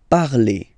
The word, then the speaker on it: parlez: Okay, remember a Z, when you combine them together, you get the sound E. Vous parlez.